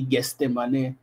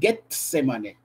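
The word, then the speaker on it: Gethsémané: allés à guestemané getsemané j'ai des difficultés à prononcer ça quelquefois je dis guestemané mais c'est getsemané arrivé là-bas Jésus avec ses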